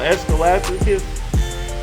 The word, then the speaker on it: Ecclesiasticus: Escalaticus 25:22. Okay, and that's spelled ECCLESIASTICUS.